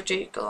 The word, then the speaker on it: Jekyll: It's supposed to be Jekyll because it's like hide and seek.